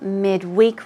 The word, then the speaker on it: midweek: Like what you're saying, midweek release. Midweek. Usually as a noun, the stress goes on the first syllable.